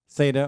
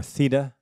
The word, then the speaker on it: theta: Either pronunciation is correct. You can say theta or theta or theta.